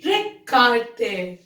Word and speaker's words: regarder: And the last one is regarder. Regarder, which means to watch. Here, the sound of G will be G, okay? It will be regarder.